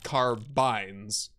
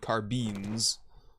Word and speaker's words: carbine: population of people that call them carbines instead of carbines, but uh, as far as I can tell, it just it goes both ways. One of those words, you can pronounce it however you want, more or less.